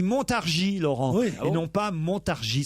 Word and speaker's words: Montargis: et d'ailleurs il dit on ne prononce pas le S on dit Montargis Laurent ils n'ont pas